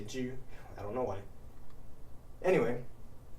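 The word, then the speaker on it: 車: can see this, but it says ju, it's pronounced ju, but you might have noticed that this character is just the traditional variant of che, meaning car. And you'd be right, but we don't say che in xiangqi, we say ju.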